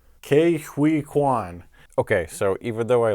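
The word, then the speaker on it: Ke Huy Quan: Just so I get this clear, because I've seen people pronounce your name differently on the internet. Is it Ke-Huy? Hui.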